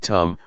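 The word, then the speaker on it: ธรรม: we see this now the damama in Tai pronounced in the same way as the word tum which means to do refers to Nature that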